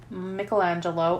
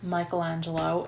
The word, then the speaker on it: Michelangelo: And, you know, you can say Michael, you can say Mickle, but I don't know.